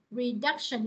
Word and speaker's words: reduction: Ví dụ mình đọc là reduction, nó re nè, reduction là nó có ba âm tiết và nó nhấn âm hai ha, reduction, reduction. Hay là cô lấy từ